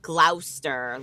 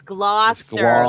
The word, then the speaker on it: Gloucester: It's just Well, you could be saying glouster like iso. What were you saying there? Glower. Yeah, it's it's blah. It's Gloucester like claw like a lobster claw and Gloucester.